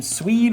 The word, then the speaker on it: Suied: And have you, I asked Sam the last time, I believe, how he liked his name pronounced. It's Suied, is what he says.